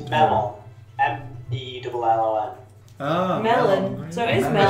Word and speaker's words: mellon: Is it Murloc or Merlon? Melon. It's Merloc. Yeah. Okay. Yeah. I believe it's pronounced Merlot.